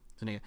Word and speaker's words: Zuniga: Jabari Zuniga, Yeah, Zuniga.